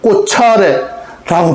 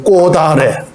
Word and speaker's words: 꽃아래: 꽃이 음가가 없는 이응이 왔네. 그러면 올라가야지 하면 꽃차례 이렇게 발음해야 되네. 꽃차례라고 발음 안 하잖아요. 꽃아래라고 발음하잖아요. 꽃아래, 꽃아래 이렇게 발음합니다. 왜?